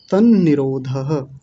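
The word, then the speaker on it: तन्निरोधः: त्र नहीं है। दो न है। एक न आधा है और एक न पूरा है। तन निरोधः ऐसा बन जाएगा।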